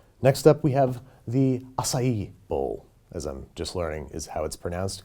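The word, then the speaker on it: açaí: a kale Caesar next up we have the acai bowl as I'm just learning is how it's pronounced because I've been saying acai I've never eaten us ie ever I know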